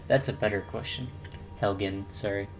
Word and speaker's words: Helgen: at hello death destruction what didn't happen at helga that's a better question helgen sorry mispronounce these weird names my lord we should